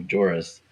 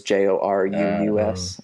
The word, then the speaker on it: Joruus: He's like, listen to the obvious mispronunciation of Joruus as Joruus. Right, yeah. When I was reading, I missed that there was a second U in there in the name. It was Joruus instead of Jorus.